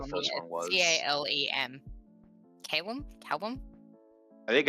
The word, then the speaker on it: Calem: No, I think it's Calem. Calem. Yeah, it's like Lemmingsworth. Lemmingsworth. Calem. Yeah. Yeah. It's like Calem, not Callum. Yeah, Calem, Lem like lemon. Lem.